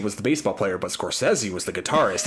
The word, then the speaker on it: Scorsese: Is it Scorsesei or how how is that pronounced? So, I've heard I heard Scorsesei all my life. I've heard in the last couple years it's actually pronounced Scorsesi.